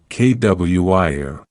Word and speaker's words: choir: Think about the word choir. If you just read it, you might be confused by the ch and the roy. But when you hear it, you learn that it is pronounced kwir.